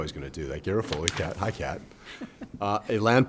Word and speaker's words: Garofoli: Kat Garofoli, did I mispronounce that? Garofoli. I knew I was going to do that. Garofoli, Kat.